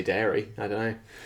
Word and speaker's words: Derry: I just I think people say dairy.